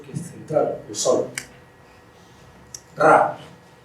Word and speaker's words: Ra: Ra, como dirían los antiguos egipcios, pronunciando con la gutural, Ra.